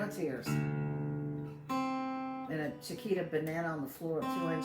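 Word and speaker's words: banane: songs have the word banana in it the the french word for banana a banana is banan and it's fun to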